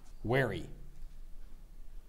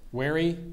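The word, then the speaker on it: wherry: i s ex aesus that's correct thank you wary a long light rowboat made sharp at both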